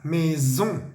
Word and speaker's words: maison: Se me olvidó decirles que la palabra casa, maison, vemos una S entre la I y la O. Debemos hacer que vibre, ¿vale? Maison, maison.